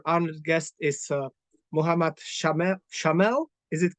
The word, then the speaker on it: Shaamel: Shaamel, is it correct pronunciation? That's right. It's Shaamel, Mohammed Shaamel, Shaamel.